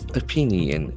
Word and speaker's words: opinion: Differences of opinion, OPINION. So here also the letter O has got Opinion. Opinion. Opinion. Opinion. There are three syllables and the accent for the second syllable.